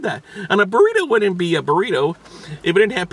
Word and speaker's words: burrito: Gotta roll your R's when you practice your Espanol. Burrito.